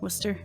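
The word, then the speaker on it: Wooster: it's spelled for no ours is w o o s t e r wer okay normal people that's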